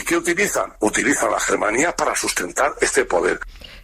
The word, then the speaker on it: Germanía: utiliza la Germanía para sustentar este poder. Lo que pronunciamos los castellanos a lo bruto como Germanía es en realidad Germanía. En Valencia Germá es hermano, Germanía, hermandad.